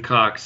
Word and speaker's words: Cox: Is it pronounced Cox? Is that how you say his name? Yeah, Stephen Cox.